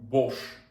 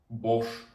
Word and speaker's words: Bosch: букв с це ха Ми всі знаємо компанію Bosch і пишеться Вона як бо с СХ Bosch то що це німецька